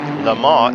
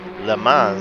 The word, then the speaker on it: Le Mans: Le Mans is the French pronunciation. Le Mans is what we say in English.